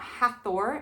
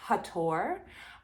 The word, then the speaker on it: Hathor: is isis and hathor th being is an american thing and that was changed on purpose her name is not hathor it's hattor um i can go